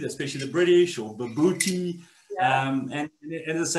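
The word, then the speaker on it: bobotie: It's even spelt unusually and it's pronounced unusually. Some people say baboti, especially the British, or babooti.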